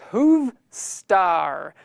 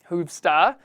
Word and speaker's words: Hoovstar: Hoov Star. Please type something. Again, that is Hoov Star. HOOV Star. I have to pronounce the R at the end, because usually I'd say Hoov Star.